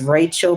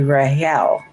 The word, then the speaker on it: Rachel: You know this woman as Rachel, but her name was actually Rael. cuz the C is silent in the Hebrew language.